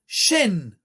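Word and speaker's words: שן: Chine et et le mot Chine la prononciation c'est chaîne puisque les dents c'est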